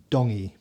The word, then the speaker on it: Tongi: I'm from koku Hawaii tongi you pronounce the T like a D in the tongy cultur yeah so I'm G to have to make an apology his name Isam dongy so team dongy so